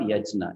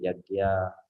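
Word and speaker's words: yajña: there is a so some people then pronounce it as yajna yajna it's not yajna it is yya okay I can see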